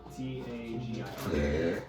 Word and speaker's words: Tagir: T-A-G-I-R. Tagir. Oh, I thought it was Taker. Yeah, Tagir. Super Saiyan.